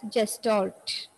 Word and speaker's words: Gestalt: It's pronounced as Gestalt.